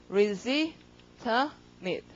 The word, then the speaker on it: legitimate: legitimate. 강세 여기니까 이 발음 잘 안 나서 발음이 legitimate 이렇게 되고 둘 중에서 이거는 아주 합당한 것이다.